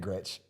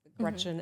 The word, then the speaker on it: Gretch: And the whole Big Gretch, you know, so I'm named after both my grandmas, Gretchen and Esther. Grandma Gretchen said, never let anyone call you Gretch. It rhymes with wretch.